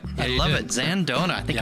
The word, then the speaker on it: Zandona: A craft spirits expert, a true craft spirits expert, Zandona. Did I get that right? Yep. I love it. Zandona.